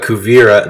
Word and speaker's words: Kuvira: is is happening we learn what uh uh kuvira there i said it right kuvira's whole entire